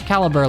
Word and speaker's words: Calibur: Yeah, it's Caliber, like Excalibur.